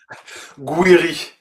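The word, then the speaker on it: Gouiri: Two goals from uh how do you pronounce his name? Is it Gueri? Guiri Gueri um but also from Nathan and Janeri.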